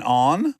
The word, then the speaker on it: Ahn: put W in the English spelling but W is silent so it's just oh I like it and then on yes on Boom did it I feel